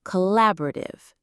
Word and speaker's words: collaborative: The word is collaborative. Let's pronounce it carefully. It has five syllables.